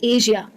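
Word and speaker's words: Asia: अब कई लोग एशिया कहते हैं इसको, ये वर्ड को कई लोग श में कहते हैं, एशिया, एशिया। इंडिया में बहुत होता है, गलत प्रोनाउंसिएशन है, इसको कहना चाहिए एशिया। सही प्रोनाउंसिएशन है एशिया। जैसे होता है कैजुअल, कैजुअल मुझे मालूम है ज्यादातर लोग सही कहते हैं, तो कैजुअल में जो आप ज कह रहे हैं वही लगता है एशिया में।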